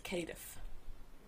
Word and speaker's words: Cardiff: The way you pronounce Cardiff properly is Cadiff.